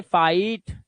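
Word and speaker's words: fight: जब किसी वर्ड में आई के बाद जी एस टी आए तो भी आई को आई पढ़ना। और जीएसटी का जीएच हमेशा साइलेंट होता है। जीएसटी में जीएच हमेशा साइलेंट होता है। और जीएसटी को क्या पढ़ा जाता है?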